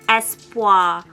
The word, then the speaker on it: Espoir: And you pronounce it Espoir. Francais. It's a France.